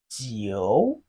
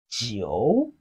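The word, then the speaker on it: 九: the flat tone but nine in Chinese is pronounced as Geo repeat after me Geo Geo it has a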